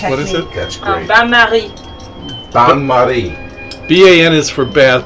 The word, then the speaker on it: bain-marie: Bain-marie. Bain-marie. B-A-N is for bath, but it's pronounced...